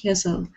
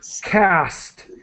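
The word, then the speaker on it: caste: we pronounce this word cast the E is silent cast and margin IED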